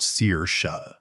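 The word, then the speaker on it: Saoirse: His wife's name is Sauersair, pronounced Sear-Sha, and she's been married to my son for, well, I'll get to that.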